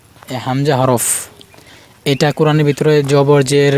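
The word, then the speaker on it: همزة: এটা আইনে মোটা হবে মনে রাখবেন হামজাহ হামজাহ হামজাহ স্বাভাবিক উচ্চারণ হামজাহ কিন্তু জবর যের বেশি হলে শক্ত হবে হামজাহ হামজা এবার ইয়া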